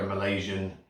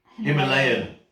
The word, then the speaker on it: Himalayan: the you know like a malaysian rock salt is that right malaysian i've got the name wrong himalayan i was close himalayan rock salt so